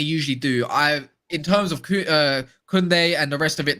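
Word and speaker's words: Koundé: Kunde. What's going on with him? What's going on with him at the moment? I don't want to say it like that as it goes. I retract it. It's Kunde.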